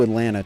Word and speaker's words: Atlanta: You've been to Atlanta enough, you know not to pronounce any of the Ts. Atlanta. Atlanta.